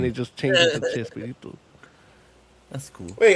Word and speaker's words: Chespirito: sorts because it's just it's spoken phonetically, so it becomes they say, "Hey, it's Shakespeareito," and then everybody's like, "Yeah, it's Chespirito." So the sh and they drop the K and put a ch instead of the sh because we